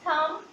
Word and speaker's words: thumb: It's comb, it's climb, it's thumb and it's lamb. Means part of B is cancelled from these words. The pronunciation of B is not anymore in these words.